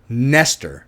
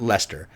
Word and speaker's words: Nestor: I see it I Serrano Nestor not Lester Nestor Nestor Serrano great actor I like him a lot I liked him in 24 he was so great in that season um anyway Nestor Serana not Lester Serrano